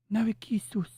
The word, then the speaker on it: Narcissu: We talked about a story called Narcissu, or as they pronounce it in Japanese, Narikisus.